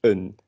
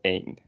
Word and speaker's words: een: It's written the same as een, the number one, but it's pronounced like unemphasized because it's not very a word that has a lot of emphasis, you know. So it's een, not een. If you say een, then you mean one.